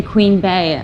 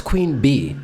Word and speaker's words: queen bee: of the strap Hive why do people say it like that it's queen bee her name is Beyonce not Beyonce Why do you say queen Bae that makes no sense and it's also a